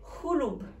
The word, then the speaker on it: hulub: Alors, maintenant, une nouvelle lettre qu'on ne prononce pas en français. C'est hulub. Hulub. Très bien. Hulub. Mais pas le r. Il est très doux.